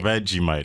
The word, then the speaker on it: Vegemite: So first one you're going to have to tell me if I pronounce it wrong. Is it Vegemite or Vegemite? Vegemite.